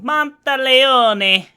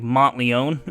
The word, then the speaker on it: Monteleone: It's Italian, you gotta say it like you're Italian. I'm probably butchering the Italian pronunciation, but it's better than what I used to call it. What did I used to call it? Like Monteleone or something like that, because I thought it was French.